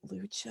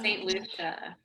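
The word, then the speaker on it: Saint Lucia: It's like Saint, how do you pronounce it? Lucha? St. Lucia.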